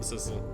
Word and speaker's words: Sissel: of us other people who also called him Sissel, right?